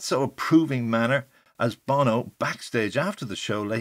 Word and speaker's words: Bono: director of the abbey will this fellow boner sorry bono be here yes harris did pronounce the youtube singer's name as bono ala sunny bono of sunny and cher there also was a